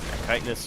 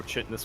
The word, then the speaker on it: chitinous: Chitinous or chitness plating, depending on how you want to pronounce it.